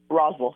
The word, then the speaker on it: Rosel: got a friend of mine on named Jessica Rosel. Rosel. Did I say that right, Jessica? Rosel, yeah. Rosel, sorry, and you and I spent 2 minutes going over the pronunciation of your last name.